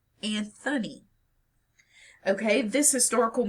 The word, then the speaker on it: Anthony: So, for example, as we pronounce Sir Anthony Hopkins' name, Anthony, not Anthony.